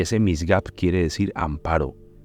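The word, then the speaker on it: מִשְׂגָּב: Es una palabra un poco difícil de pronunciar, pero así es como se lee, misgab. Y ese misgab quiere decir amparo o un lugar elevado o inaccesible.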